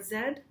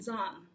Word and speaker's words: Zahn: So with an American pronunciation, Zahn. Zahn, Zahn, Zahn, something in this direction. In German, the Z or the Z sound is a harder, imagine that in German, a harder sound, so it's more like a T-S sound.